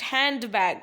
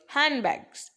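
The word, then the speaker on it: handbag: बेटा इट्स, क्या बोलेगा, बेटा इट्स नॉट हैंड बैग, इट्स हैंड बैग, speak हैंड बैग, है ना। तो क्या होगा, डी आपका साइलेंट रहेगा।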